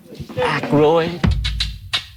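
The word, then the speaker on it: Aykroyd: How the fuck do you pronounce this? Ackroyd.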